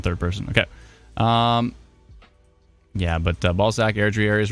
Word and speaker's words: Balzac: Brandy says, well, you did pronounce Balzac and didn't say Balzac, so that's true.